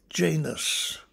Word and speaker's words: Janus: at all and then janus have to pronounce that fairly carefully if you think of um well i don't know the english word janitor you can see that there's a link here janus is the two-headed god